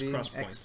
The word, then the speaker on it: XPoint: It's pronounced XPoint.